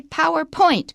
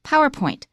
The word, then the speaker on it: PowerPoint: Don't say PowerPoint presentation. It's PowerPoint. PowerPoint. It's just one word, so point is not stressed.